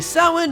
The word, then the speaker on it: Samhain: No, it's, I know, but it's pronounced Samhain. Yeah, but phonetically, that would say... It's pronounced Samhain, we're moving on.